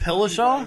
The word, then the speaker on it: Dillashaw: Say it Dillashaw?